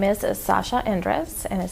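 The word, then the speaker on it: Zasha Endres: and spell it okay so my name is Sasha Andres and is spelled z-a-s-h-a and then Andres is e-n-d-r-e-s have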